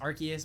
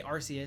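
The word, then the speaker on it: Arceus: Arus, I know it's pronounced Archus, but I say Arus, so like, don't kill me.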